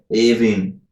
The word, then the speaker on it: Aoibhinn: It's supposed to be Avin.